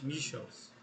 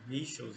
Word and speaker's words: Michels: pensamento do Alemão Robert Michels a pronúncia correta não é Michels origem alemã né Michels enfim eh mas é mais ou menos o que todo os pronunciam né portugues Então esse vídeo